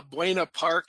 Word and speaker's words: Buena Park: the city pronounce it, but I'm going to pronounce it uh Buena Park and Mareno Valley.